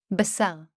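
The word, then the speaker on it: בָּשָׂר: This is how these two words are pronounced. SÁRX. Basar.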